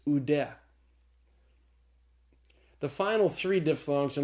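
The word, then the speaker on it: οὐδέ: Omicron upsilon is pronounced oo, like in the word soup. And so the Greek word is pronounced oude.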